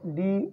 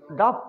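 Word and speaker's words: dough: डी ओ यू जे, ये डो है, डफ नहीं है। एक लफ्ज़ होता है रफ, उसके स्पेलिंग यही होते हैं ना, आर ओ यू जे एच। एक होता है कफ, के स्पेलिंग क्या होते हैं, सी ओ यू जी एच। स्पेलिंग ये भी वो है, लेकिन ये डफ नहीं बल्कि डो, बोले डो, डो है।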